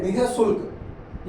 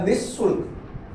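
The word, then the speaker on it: निःशुल्क: ह के रूप में तो ये है निय शुल्क या निशुल्क दोनों ही सही है नि संदेह निसंदेह निशुल्क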